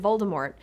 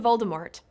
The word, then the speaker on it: Voldemort: Rowling once claimed on Twitter that she doesn't pronounce the T in Voldemort, which makes sense considering that's the proper French pronunciation.